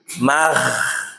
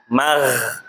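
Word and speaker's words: غ: Mahrad asalnya kan g bulat kan. Nah, berarti bacanya bukan magh tapi mag ya gitu.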